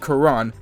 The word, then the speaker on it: Corin: myself as well because how I said Corin just now is pronounced Kuran.